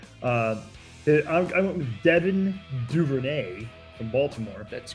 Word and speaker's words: Duvernay: I went with Devin Duvernay from Baltimore.